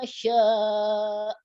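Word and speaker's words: شاء: Wala yuhituna bisyai'im min ilmihi illa bima syaa. Maknya jangan terlalu panjang. Illa bima syaa. Illa bima syaa. Nah, syaa-nya menekan. Syaa. Gitu. Kurang panjang ya, Pak? Kurang panjang sama kurang menekan ke hamzahnya. Jadi kayak dihentak.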